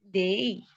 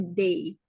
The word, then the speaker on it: they: Tadi aku dengarnya they, tapi bukan they. Jadi harus jelas ya pengucapannya they. Kalau misalnya y-nya itu nggak kebaca kan soundnya jadi the ya, bukan the tapi they.